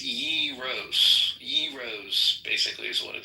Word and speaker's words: gyros: And we proned that it's yros.